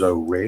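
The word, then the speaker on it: Horry: And uh then also down in uh Ori County and that's the correct pronunciation is Ori.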